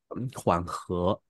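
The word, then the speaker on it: 缓和: 不是喝乌窝这个发音，是它喝二声的和，叫缓和，对啊。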